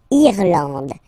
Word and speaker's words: Irlande: Remember, this is E, and it should be pronounced like E, E. Irlande. Irlande. Okay, A-N, an, D, and final E, not pronounced.